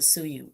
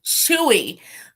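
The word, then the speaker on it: Tzuyu: Oh, I was gonna pronounce it Suyu. Chewy.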